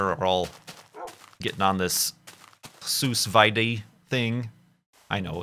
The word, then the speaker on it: sous vide: And I know HC Justin and Breon here are all getting on this sous vide thing. I know it's pronounced sous vide, but it looks different.